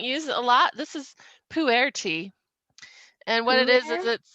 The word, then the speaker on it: Pu'er: This is Pu'er tea, and what it is it's called Pu'er.